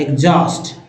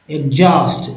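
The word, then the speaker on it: exhaust: यहां हो गया रिदम एग्जॉस्ट में ये एच जो है साइलेंट है और ए जो है ए एक्स के साथ एक्स का उच्चारण एस होता है एग्जॉस्ट एग्जॉस्ट एग्जॉस्ट अब देखिए दोस्तों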